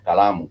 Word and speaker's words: kalamu: It has 3 syllables: ka, la, mu, and the final, the way it ends is with mu. Kala mu. So the mu has a vowel sound u.